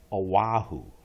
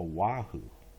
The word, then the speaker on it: Oahu: the people there say Oahu oh so you don't see the w but it is pronounced as a wahoo okay okay that's good